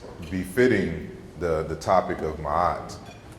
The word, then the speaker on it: Ma'at: of consonants, which is an M as in Mary, an R is like in Robert, a K sound, and a T suffix. So it's really like metaki, or like market. That's the historical general pronunciation of Maat.